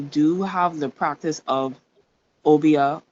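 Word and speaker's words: Obeah: So for example, we do have the practice of obia. Is that how you pronounce it? But we say it obey.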